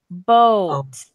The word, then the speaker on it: boat: Oh, Boat. bold. Good. Okay, so again, this A is silent. Even though it's a vowel, it's quiet.